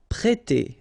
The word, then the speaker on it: prêter: We've got here this accent circumflex on the top of E, so if you remember carefully, it will produce the sound E, so really open, E, so prêter, prêter.